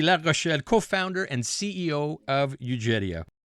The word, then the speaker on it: Eugeria: And I'll spell it as EUGERIA, Eugeria.